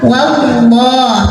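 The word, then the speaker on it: والله: Wallah ada lam jalalah yang dibunyikan secara tafkhim. Karena huruf sebelumnya waw bergaris fathah, maka bacanya tebal. Wallah, maka lidah dinaikkan.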